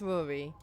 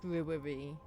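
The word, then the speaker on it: Ruairí: I think that's Rory. R U A I I Ry. Ah. It's pronounced Rory. And it might be pronounced Rory depending on who pronounces it.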